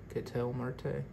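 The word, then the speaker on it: Ketel Marte: all right we have a kettle Marte Kel Marte that's how you say his name Wade meckler rookie base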